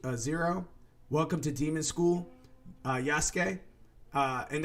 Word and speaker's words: Yasuke: Welcome to Demon School, Yasuke, and that's spelled like Yasuki, but I just say Yasuke because it's Sasuke from Naruto.